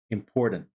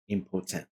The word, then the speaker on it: important: be important important so some people they say important and American way is important again important it's not importent so there are many